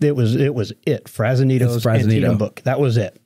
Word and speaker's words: Antietam: My mom told me it was Antietam.